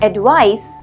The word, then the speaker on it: advice: The ending in advice sounds like ice, I-C-E.